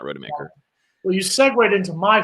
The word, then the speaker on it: Rodemaker: So let's see how Milton looks like on Saturday, and let's see how Tate Rodemaker looks.